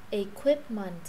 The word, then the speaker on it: equipment: Equipment nó là không phải là equip, không phải chữ quờ mà không phải chữ khờ không, nó là khờ quờ.